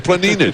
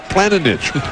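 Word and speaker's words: Planinić: to say his name every time i ask him he tells me it's zoran planning and now you're saying it's planet niche what's the deal here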